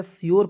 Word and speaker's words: sure: देखिए यहाँ पे SURE मैंने बताया श्योर पढ़ेंगे, URE अंतिम में आएगा, उसका उच्चारण योर के रूप में करेंगे।